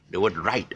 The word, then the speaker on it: right: The W is silent, and even the other right, the G is. You see, the best way to pronounce this word right is to spell it the Malay spelling. Okay, I'm going to try and write it. This Malay spelling is actually R-A-I-T.